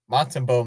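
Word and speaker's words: Montembeault: Montembeau makes a big save.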